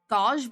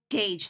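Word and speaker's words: gauge: I keep forgetting cuz I thought it was god, but it's not. Gage, that's what it was.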